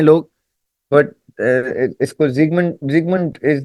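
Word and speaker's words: Sigmund: तो जो इसको सिगमंड फ्राउड भी कहते हैं लोग, सिगमंड फ्रॉइड भी कहते हैं लोग, बट इसको जिगमंड जिगमंड इज the actual pronunciation as much as आई can recall.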